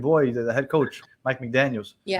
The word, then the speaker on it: McDaniel: the head coach, Mike McDaniels. Yeah. No, not McDaniels. Mike McDaniels, our coach, Mike McDaniel.